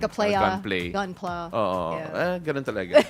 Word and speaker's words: Gunpla: I had to ask him nga kanina sa makeup room, how do you pronounce that? Is it Gunpla or Gunplay? It's Gunpla, short Gunpla. for Gundam plastic model.